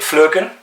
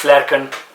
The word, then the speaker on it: Flerken: Most people will call it Flurken. I believe it is a German word or Dutch word, which would be pronounced Flerken.